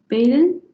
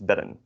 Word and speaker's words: bedden: Veel beden. There's the first, or the second, or the third? Is that the 7th? Beden? No, unfortunately not. It's bedden.